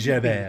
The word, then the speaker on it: Javert: You know, the T is silent. Jabba. No, it French. should be. Javert.